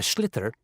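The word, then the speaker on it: sliotar: this ball called a slither that's SL IOT a or so it's not spelt the way it's pronounced u his ears into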